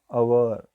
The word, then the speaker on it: hour: to pronunciation this word our here H was silent so we can use